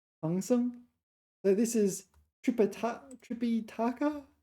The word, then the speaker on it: 唐僧: This one, 唐僧. Sorry, I mispronounced it. 唐僧.